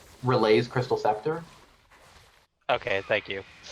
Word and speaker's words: Rylai's: Relays Crystal Scepter. Okay, thank you. I know some people say it Rylai's, but I say it Relays. It is pronounced Rylai's. Okay.